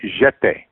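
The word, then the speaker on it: Getae: basically telling me about the ancient Jete, the jet. call them like the Jets. Jete, spelled with a G.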